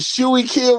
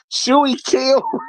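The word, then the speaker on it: Schuylkill: How you pronounce it? Shy Kill River here in Philly. Is that what we doing? Shy Kill River.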